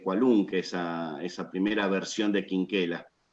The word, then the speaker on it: Quinquela: No fue acogido con éxito porque era bastante cualunque esa primera versión de Quinquela. Aunque podríamos decirle también Chinchela, ¿no? Porque así seguramente se pronunciaba Chinchela.